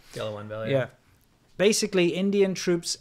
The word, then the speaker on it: Galwan: I think that's how you pronounce it. Galwan Valley.